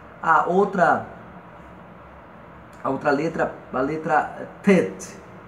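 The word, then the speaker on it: ט: A outra letra, a letra Tet. Tet. Serpente, equivale ao nosso T em português.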